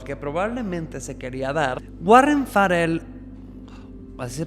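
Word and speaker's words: Farrell: y musculoso al que probablemente se quería dar Warren farell así se pronuncia pero Warren farel opina que estas socializaciones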